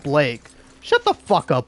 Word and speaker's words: Blake: Oh, it's actually pronounced Blake. Shut the fuck up, Balake.